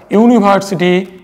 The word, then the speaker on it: University: European and unique position here you will see the existence of you II and you they're basically vowels but their pronunciation is not the vowel here because you are pronouncing at University European and unique that is you we are pronouncing it as you so while you are